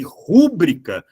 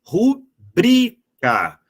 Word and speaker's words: rubrica: aí vão acreditar que rúbrica é uma proparoxítona quando a pronúncia correta é simplesmente rubrica sendo a penúltima sílaba mais forte mas Caio Como que